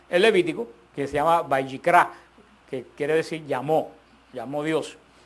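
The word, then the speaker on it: ויקרא: No sé si se recuerdan cómo cómo se dice el nombre del Levítico en hebreo, Vayikra, que es la primera palabra del libro del Levítico, Vayikra, que quiere decir llamó.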